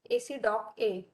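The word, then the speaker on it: ACDOCA: document on actuals so how we pronounce is AC doc a so it is for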